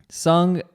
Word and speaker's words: Seoung: Li pronounce that right it's sung like a bird and sung I want to bring